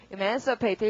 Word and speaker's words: emancipate: 여러분 man의 강세 두고 emancipate 읽어주시고요.